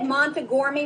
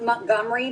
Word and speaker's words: Montgomery: emerson baylor at evergreen he said montegourmi middle school but i think that's just a pronunciation it's up to you coaches they're giving you the thumbs up eh all right that's correct it's actually pronounced montgomery but we're gonna go with